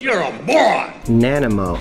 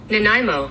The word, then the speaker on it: Nanaimo: geometry geometry geography wow nanimo let's see how to pronounce this nanimo nenemo nanaimo nanaimo nanaimo i think it's so creepy they show you the lips moving of the ai nanaimo i hate the